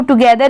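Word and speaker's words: together: है तो आप उसको टुगेदर ही पढ़ेंगे इसलिए आप स्पेलिंग याद कर चलिए टी ओ जी ई टी एच ई आर इसको हम लोग पढ़ते हैं टूगेदर टू गदर अब चलिए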